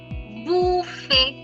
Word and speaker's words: buffet: In French, most last letters are silent. We do not pronounce the last letters. Similar example to bouquet is pronounce it behind your screens. It's buffet. Yes, it's buffet.